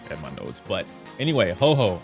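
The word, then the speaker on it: Huohuo: But anyway, Ho Ho. I call her Ho Ho because Pokemon. I know you guys are pronouncing it Huo Huo. Huo Huo. I'm not doing that.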